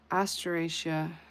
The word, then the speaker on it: Asteraceae: Family, and then the yarrow ast- asteraceae is sunflower family.